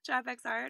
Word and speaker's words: TrapxArt: um our instagram is trapex art um the x is silent but it is there so traffic's art our website is traffic